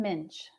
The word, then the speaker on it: Muench: It is like pinch with an M, so Muench.